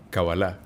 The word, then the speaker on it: Kabbalah: Hablando de masonería, hablando de este misticismo, como mucha gente lo ve, llegamos también a un estudio llamado Kabbalah. ¿Lo pronuncié bien?